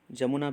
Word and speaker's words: यमुना: देख लेते हैं कि यमुना रिवर कहाँ से स्टार्ट होती है। इसको आप जनरल स्टडीज़ पेपर 1 ज्योग्राफी से रिलेट कर सकते हैं। यमुना जो है उसको जमुना भी प्रोनाउंस किया जाता है।